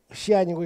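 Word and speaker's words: 西安: 일단 중국식 발음으로 하면 이제 시안이고 이건 라양인데, 이 서안이라는 도시는 중국에서 가장 역사와 전통이 유구한 도시입니다.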